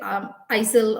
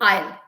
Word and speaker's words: aisle: They say isle or something, but it is actually aisle.